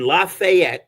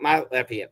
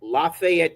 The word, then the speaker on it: Lafayette: And yet, uh, I just had 15 people, I think 13, went mystery shopping in Lafayette, that's how they pronounce, not not Lafayette, Lafayette, Georgia.